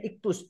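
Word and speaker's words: ΙΧΘΥΣ: bahasa yunaninya iktus ya tulisannya ikoy xoy bacanya iktus iktus itu Yesus kristos theos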